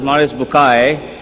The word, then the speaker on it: Maurice Bucaille: and a scholar of Quran Dr moris buk pronounced as moris bukai right doctor do matter okay uh he's a